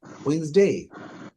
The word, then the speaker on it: Wednesday: ডিটা একদমই হালকা Tuesday. অথবা না থাকার মতোই।